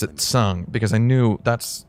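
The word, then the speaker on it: Tseng: it is so ugly okay listen she's gonna pronounce his name correctly listen listen she calls him tsung now as i pointed out uh in an earlier stream man man i pronounced his name sang in my final fantasy vii videos that i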